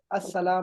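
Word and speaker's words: السلام: देखो इस्लाम शुरू में लिख दिया ना, इस्लाम नहीं होना चाहिए, क्या होना चाहिए, अस्सलाम होना चाहिए, नहीं अलिफ लाम होना चाहिए, लाम साइलेंट होगा, अस्सलाम होना चाहिए, अलैकुम व रहमतुल्लाह।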